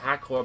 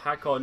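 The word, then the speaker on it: Hakkon: I know I pronounced it Hakor, but I'll call it Hakon now.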